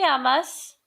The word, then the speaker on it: llamas: The first one is, ¿Cómo te llamas? And you'll notice that this double L is going to make a Y sound in Spanish. So I'd like for you to repeat after me. ¿Cómo te llamas?